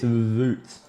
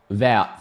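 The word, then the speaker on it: Wout: And on debut in the number 27, it's Voot Veg Horse. Get up and about for Voot. Vout.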